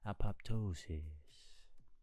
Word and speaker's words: apoptosis: How do you go about pronouncing it? Apoptosis. Why you gotta roll it like that? Apoptosis.